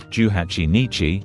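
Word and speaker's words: 18日: For dates like the 18th or 28th, they are read as juhachi nichi or nijuhachi nichi, so be careful.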